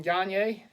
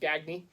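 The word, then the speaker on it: Gagné: this is a Samoan gagne jersey and that is house names pronounced not gagney Gagne this was a custom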